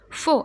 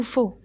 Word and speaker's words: faux: Vrai, صحيح, ou faux. Alors vrai, هذه الAI se prononce E.